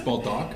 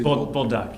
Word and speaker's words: Bolduc: The French would say duc. Yeah, maybe, yeah. It's Baldock, I would say. Bulldog, yeah. A bull and a duck is what, yeah. Bolduc, City Attorney.